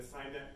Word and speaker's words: SEINet: And that's what came about what we call the SEINet Regional Portal Network.